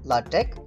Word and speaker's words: LaTeX: it is said that late length which is pronounced latech only tech is a document preparation system for